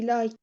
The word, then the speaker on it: liked: or he liked he liked liked pronounce it as T liked sorry but uh not uh ma Ed like no he h